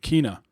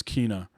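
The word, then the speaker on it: Kena: And so it's like Tina with the K, Kina. Okay. I heard other people in the game reference her, or I think she might have even said her name, and it's Kina.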